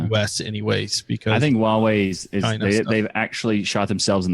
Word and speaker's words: Huawei: someone help me out Michael Huawei Wow hu aw e how does that not obvious its Huawei and you're from the